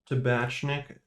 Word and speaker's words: Tabatchnick: i will be reviewing tabashnik chicken broth i think that's how you pronounce that name with noodles and dumplings